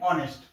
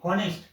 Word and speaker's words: honest: और ईमानदार, ईमानदार को हम लोग क्या बोलते हैं, ऑनेस्ट। ये लिखा है HONEST, हॉनेस्ट, लेकिन इसको पढ़ा जाता है ऑनेस्ट, एच साइलेंट है यहाँ पे।